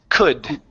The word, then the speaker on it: could: The L is silent, so instead of saying could, okay, it's could. Could.